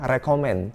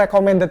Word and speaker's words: recommend: Kebanyakan orang bilangnya recommend. Guys, ayo ke restoran ini, restorannya recommended banget nih.